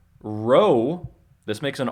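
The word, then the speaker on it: ρῶ: sounds like a p row this makes an R sound it looks like a p uppercase and lowercase p it looks like a p but it's not it's an R row uh Sigma actually has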